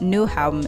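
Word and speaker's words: Nyhavn: copenhagen's famous nyhaven District I think it's pronounced new home in Danish it's known for its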